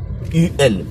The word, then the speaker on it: ul: UL. Comme le U se prononce OU en roumain, donc UL se dit ul.